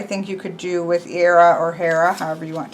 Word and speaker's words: Hera: So then we have who I always thought of as Hera, but Chris pronounced Hera.